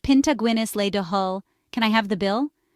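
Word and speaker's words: pionta Guinness le do thoil: In Irish, it's pianta Guinness le do toile, pronounced pinta Guinness le do hull.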